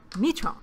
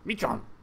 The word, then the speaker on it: Michon: Namaste, Michon. Michon. Michon. Don't pronounce the N.